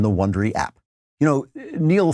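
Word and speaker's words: Niall: You know, Neil Ferguson, I believe that's how he pronounces his first name.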